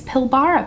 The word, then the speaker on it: Pilbara: to talk to you about my geology cosmetics pilbara palette dang it somebody totally commented on the